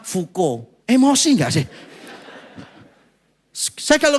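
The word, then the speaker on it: Foucault: namanya pernah dengar enggak tulisannya itu faau chault gitu faau caul bacanya fuko emosi enggak sih saya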